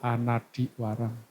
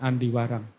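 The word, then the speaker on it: anadhivaraṃ: Yang tepatnya yaitu Anadiwarang, bukan Andiwarang. Itu sambil dibuka.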